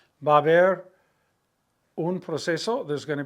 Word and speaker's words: haber: The H is silent. It's like one syllable, ba, and then another syllable, ber. Baber. Baber.